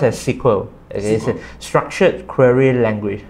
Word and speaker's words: SQL: language so the full name of SQL is pronounced as sequel is a structured query language so it's a